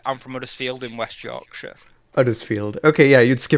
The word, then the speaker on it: Huddersfield: Oh wait, who else came back here after Graham Norton pointed out Okay, Huddersfield?